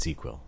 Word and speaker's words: ZzzQuil: getting you drowsy really it's ZzzQuil but they pronounce it Z Quil it's like it's like